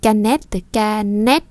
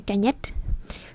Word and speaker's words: canette: Une canette chứ không phải canette.